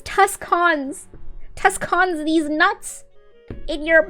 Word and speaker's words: Tucson: Why the fuck is there a C in it then? That literally says Tuscans.